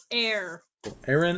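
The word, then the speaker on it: Aeran: one a a rom it's literally aaron like it's like aaron but air aaron and lythra no but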